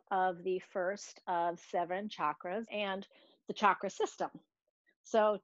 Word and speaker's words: chakra: series so it is pronounced chakra like a chocolate with a ch all right so i